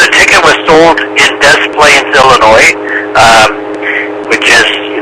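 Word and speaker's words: Des Plaines: words and uh but they pronounce it as Americanized you Des Plains and I have been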